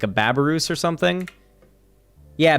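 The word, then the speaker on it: babirusa: or something like a babarus or something. Yeah, Babarusa. Yeah, there it is. Yeah. Yeah, I knew it had Babaroo in it. I was missing the last syllable there, but I was close.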